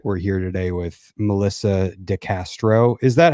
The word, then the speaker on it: Castro: We're here today with Melissa Castro. Is that how you pronounce it?